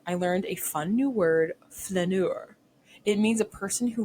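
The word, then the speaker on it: flâneur: an idler or loafer really make sure to botch the second syllable to sound French when you say this word f hope you are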